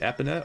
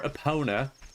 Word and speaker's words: Epona: a pretty horse named Epona or Epona. Also open to either pronunciation of Epona or Epona. But again, I think Epona sounds better. It's E-P-O-N-A. So, take your pick.